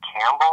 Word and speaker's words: Campbell: We had a town like named Campbell, and there was like a P in the middle, but no one ever said the P.